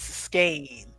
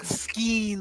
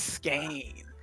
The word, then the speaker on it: skein: official pronunciation is skein, not skeen like people want to say all the time. Good. It's skein.